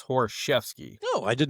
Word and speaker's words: Horoszewski: You know, I mean, if you go the old Polish way is Horoszewski.